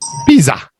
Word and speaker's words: Pisa: here with an S this is actually pronounced with a zed Pizza in Italian the s's